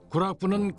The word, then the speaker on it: 구락부: 구락부는 클럽의 일본식 발음으로 1901년 6월에 준공된 우리나라 최초의 외국인 사교 클럽이었다.